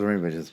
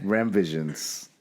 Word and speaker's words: Remmvisions: I always thought it was Remmyvisions. My bad. Yeah. I've been saying it wrong the whole time. Yeah. Nah, you're so good. Remmvisions.